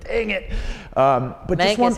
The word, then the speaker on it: Mancos: But Mancos, you got to say it like you're a cowboy. Mancos, like Prescott.